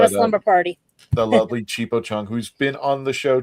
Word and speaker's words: Chipo Chung: It is Chan Chipo Chung Tho, if you pronounce it right, but it's actually Chipo Chung.